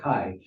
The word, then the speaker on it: chi: of section of poetry uh Akai the letter Kai which stands for Christ is looks like a modern day x for us it looks like an X but it's it's a Greek letter Kai this uh is in the chiastic formation which